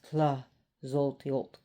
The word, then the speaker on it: Tlazolteotl: So, anyways, we're talking about an Aztec goddess of the Mexica people, Tlazolteotl, or she's also pronounced Tlazolteotl because the TL is sometimes very tricky to pronounce.